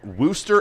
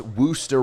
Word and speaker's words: Worcester: because i said i i pronounced wooster wrong or vista however you say it in massachusetts because it's spelled like warcester or worcester orchestra that's how it's spelled and everybody's like ryan